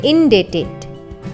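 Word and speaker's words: indebted: Next word है हमारी list में इनडेटेड। इनडेटेड, यहाँ पर बी साइलेंट है।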